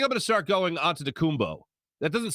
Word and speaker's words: Antetokounmpo: By the way, I think I'm going to start going Antetokounmpo. That doesn't sound right to me, but that's how you pronounce his name.